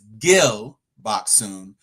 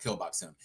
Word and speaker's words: Gil Bok-soon: uh seasoned killer uh whose name is Gil Bok-soon, but Gil and Kill sound the same, and she's a murderer, so it's called Kill Bok-soon.